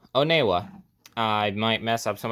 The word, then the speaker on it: Onewa: uh when you oh sorry not wanua oneewa I might mess up